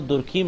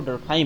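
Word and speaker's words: Durkheim: लोग जोड़ सकते हैं दरखाइम को, यानी इमाइल दुर्खीम। जैसे हम दुर्खीम कहते हैं, वो वास्तव में वो दुर्खीम नहीं होता है बल्कि वो दरखाइम होता है।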